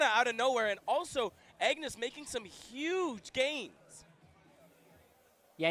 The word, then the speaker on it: Agnes: And fun fact for Agnes, her name is pronounced Agnes, but our mouths don't really do that in English.